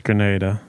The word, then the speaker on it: Grenada: So the Grenada was Grenada or Grenada? It's Grenada. Grenada, thank you. My dad wanted to let you know that it's pronounced Grenada.